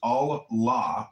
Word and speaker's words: Allah: The God in Arabic will be Allah, pronounced Allah, or Allah, which is simply God with a capital G.